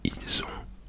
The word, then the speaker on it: ils ont: But in French, we do not pronounce the S at the end. And it'd be ils ont or elles ont.